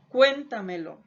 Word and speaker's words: cuéntamelo: Y estas palabras sobresdrújulas o preproparoxítonas son aquellas que tienen la mayor intensidad antes de la antepenúltima sílaba. Veamos ejemplos de este tipo de palabras. Por ejemplo, tengo la palabra llévatela, dígaselo, cuéntamelo.